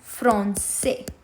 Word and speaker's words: français: So it softens C to a s sound. S. For example, let's see example number one, français.